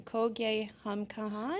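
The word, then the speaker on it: Kho Gaye Hum Kahan: Can you tell us, so I'm going to pronounce this wrong, Kogye Hum Kahan?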